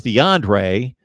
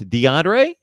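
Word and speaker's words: D'Andre: mispronounce your name and I always thought it was DeAndre but I noticed obviously that it that it's spelled D a and D are E so it's DeAndre okay okay okay all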